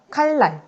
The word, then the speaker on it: 칼날: 칼날. 우리 칼날 어떻게 발음되죠?